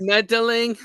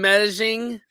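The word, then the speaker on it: Medellín: Meddling. Meddling, like mean those kids. You mean Medellin? Like Medellin? Because remember the 2 L's is a Y.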